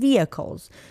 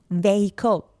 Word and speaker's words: vehicle: different public transportations and vehicles you cannot pronounce this word vehicle is wrong no no no no so vehicle is correct yeah such as bus